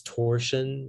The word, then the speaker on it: torsion: Yeah, so the only pronunciation is torsion.